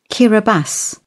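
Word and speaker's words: Kiribati: Kiraabas. Interesting. Kiraabas. Where is the S? It isn't written with an S, but we pronounce an S.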